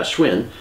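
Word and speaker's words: Schwinn: wrong so many times it's pronounced like the bike and the greatest misspelled happened yeah Schwin greatest misspelling happened at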